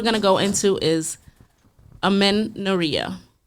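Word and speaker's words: amenorrhea: first word we're going to go into is amenoria. Amenia. Amenia. Yes. And it's spelled A M E N O R R H E A.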